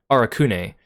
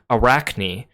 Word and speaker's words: Arakune: with the English dubbing, they call him Arakune, which to me makes sense because it looks like a Japanese romanization of something. But then in the third game, they suddenly changed the way they pronounce his name to Arachne.